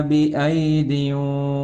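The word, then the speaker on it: بِأَيْدٍ: വസ്സമാഅ ബനൈനാഹാ ബിഐദിൻ വഇന്നാ ലമൂസിഊൻ. അവിടെ വസ്സമാഅ ബനൈനാഹാ എന്നതിന് ശേഷമുള്ള പദം നോക്കൂ. ബിഐദിൻ എന്നാണ് വായിക്കേണ്ടത്. അവിടെ 2 യാകൾ എഴുതിയിട്ട് ഉണ്ട്. ആ 2 യാഇനും 2 യാകൾ ആണുള്ളതെങ്കിലും ഒരു യാ ആണ് ഉച്ചാരണത്തിൽ വരിക.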